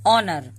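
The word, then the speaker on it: honour: ऑनर, ओ से पहले अगर एच आए तो यहाँ पे एच साइलेंट होता है।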